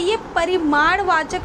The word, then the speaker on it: परिमाणवाचक: के बात करें तो सबसे ज्यादा स्टूडेंट्स यह कंफ्यूज होते हैं और इसका गलत उच्चारण करते हैं देखिए यह जो होता है यह परिमाणवाचक विशेषण होता परी मार्ग जिसका अर्थ